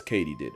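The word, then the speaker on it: katydid: completely butchered that word turns out it's Katie did as in did Katie do it yes Katie did I'm gonna mispronounce it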